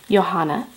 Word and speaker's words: Johanna: and I connected with johanna spelt Joe sauna with a J she says the eighth the J is silent or sounds like an H or why I guess